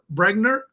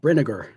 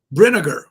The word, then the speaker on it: Brinegar: name wrong is it bregar it's it's like vinegar with BR brinegar brinegar okay so Stephanie lemon